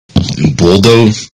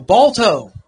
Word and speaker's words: Balto: Baldo? No, Balto.